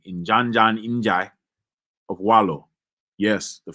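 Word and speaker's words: Ndiadiane Ndiaye: of Jola found by I'm going to tell you how to say this name uh because it's usually not spelled that way traditionally it's called inan Jan in of wallo yes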